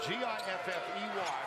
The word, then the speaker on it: Giffey: Spelled G-I-F-F-E-Y, pronounced Giffey.